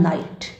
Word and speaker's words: knight: जैसे उदाहरण नाइट। नाइट अंग्रेजी का शब्द है और KNIGHT, लेकिन यहाँ पर के जो है वह उच्चारित होने से रह गया है।